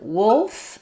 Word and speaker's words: wolf: And then wolf is not necessarily an easy sound word for people to pronounce either, because letters O-L say ol, like in pull or wool.